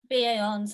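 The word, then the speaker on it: BA Hons: with the ba ons how do you say that b8 be a ons that's it yeah that's how i say it okay basically in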